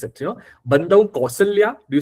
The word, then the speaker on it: Kausalya: It is not Kausalya but Kausalya. So, very interestingly, the pronunciation in Awadhi of Kau is exactly the same as the pronunciation of Au in Marathi.